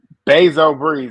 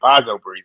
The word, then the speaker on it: Bezo Breeze: Bezo Breeze. I watched your recap. I know how to say it now. I've been saying Bazo Breeze.